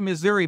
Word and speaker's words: Missouri: Well, I pronounce it Missouri, but I am not a local or a native, I should say.